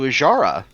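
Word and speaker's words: Azshara: what happened to a I'm going to mispronounce this name again aara uh aara okay I got to remember that that s is silent okay but what happened to ajara looks at the camera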